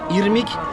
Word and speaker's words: Irmik: Ve lo faccio dire da Sergio come si chiama questo dolce perché è complicato per noi pronunciare perfettamente certe parole. Quindi si chiama Irmik Tat così che sarebbe scritto così.